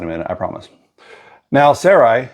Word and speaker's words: Sarai: minute I promise now Sarai and I had to check the pronunciation s a r a i and that's how they were saying it on YouTube so that's what we're going with now Sarai Abram's wife